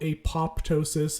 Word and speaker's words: apoptosis: in altered self cells it's spelled apoptosis it's supposed to be apoptosis we talked about this